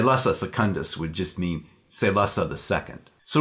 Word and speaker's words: Salusa: same set of stories now the way Frank Herbert probably intended the name of his prison planet to be pronounced was not SaLuSa but say Lhasa play on the Latin word salus so in all likelihood